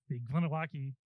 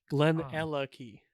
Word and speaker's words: Glenallachie: to pronounce this properly gonna walkie did I get that right not quite close enough but Glen and lucky Glen Glen or or as Ralphy would say Glen uh lucky good maliki this is